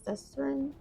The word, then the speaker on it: Susteren: I believe that's how you say it, Greta Van Susteren.